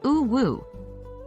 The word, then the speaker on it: UwU: to pronounce u w it's generally pronounced as o woo the first U is pronounced like the sound u in boot or loose and the second U is pronounced the same way the W is pronounced just like the English letter W when to use U